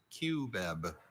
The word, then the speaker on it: cubeb: Cubeb. Can I have like can I have alternate pronunciation?